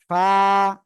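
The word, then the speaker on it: ف: উপরে দুই দাঁতের আগা নিচের ঠোঁটের পেটের সাথে লাগাতে হবে এই যে লাগিয়ে হালকা বাতাস বের করে উচ্চারণ করতে হবে ফা ফা সবাই বাতাস বের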